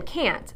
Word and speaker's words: can't: no long a sound they can't buy it there that's right I said can't you heard that long a sound we can't work that